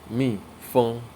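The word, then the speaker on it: 蜜蜂: So it is pronounced as mi feng, mi feng.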